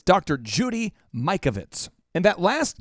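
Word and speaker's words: Mikovits: Judy Mike Ovitz and that last name is spelled mi ke Ovi T s now that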